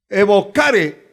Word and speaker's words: evocare: Es una palabra del latín que se pronuncia como evocare. Se traduce como llamar o convocar a espíritus de muertos.